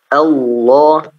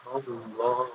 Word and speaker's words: Allah: Itu ketika lam mufakhamah, ya, ketika lam tebal. Jadi di situ Allah, ya, coba diucapkan Allah. 1 2 3. Allah. Mohon maaf, suaranya kurang terdengar. Allah. Allah. Ya. Allah. Ya, harus tebal. Allah.